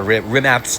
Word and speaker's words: Rimac: the um the Rimac Nea or Rimat's Nea if you want to say it properly.